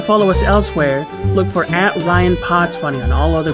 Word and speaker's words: Rian: we work together you your name is spelled r i a an and so like I know it's Ryan but but in my I get self-conscious too so I'm like is it Rion like but but I